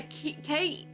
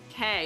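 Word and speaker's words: Kei: in my brain that's making me think, yeah, K E I. It's K because Sukishima K from Hiq and that's how his name is spelled and that's how it's pronounced. Ar. Okay. K.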